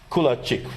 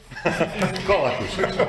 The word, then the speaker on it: Kolakušić: And another colleague from Croatia, Kulačić, right? Do I pronounce it correct? Right now, not. Kolakušić. Kolakušić, I know, it's tough with all these names.